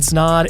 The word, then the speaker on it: Snod: my name is snod it rhymes with OD and you're listening to